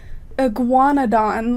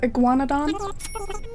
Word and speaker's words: Iguanodon: pronounce it super well it's like Iguanodon like it's kind of reminds me of iguana is how it starts Iguanodon oh you're missing three